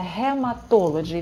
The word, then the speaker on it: hematology: Например, hematology – это гематология, но произносится hematology. Видите, не г и не г, а х и дж.